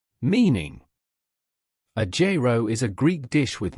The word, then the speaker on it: gyro: Gyro. Meaning: a gyro is a Greek dish with meat, veggies, and sauce in flatbread. Say gyro and you'll notice it has two syllables. J. Row.